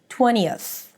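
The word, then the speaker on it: twentieth: because it's very subtle, just use a schwah there. So it sounds something like 20 uh and then a th 20th 20th.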